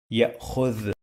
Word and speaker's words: يأخذ: يأخذ. The. This letter in the end sounds like TH in the word the. You must use your tongue to touch your upper teeth to pronounce it.